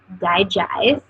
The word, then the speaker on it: DiGize: The next oil I'm going to talk about is Digize. That is how you pronounce it.